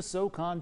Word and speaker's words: SoCon: Right now, the Furman Paladins come up so close in the SoCon tournament.